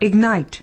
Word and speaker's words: ignite: verb ignition the noun ignite as a verb ignite with the stress on the second syllable it means to to